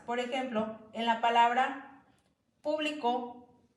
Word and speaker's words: público: Por ejemplo, en la palabra público y publicó, al solamente ponerle el acento en diferente vocal, cambia su significado.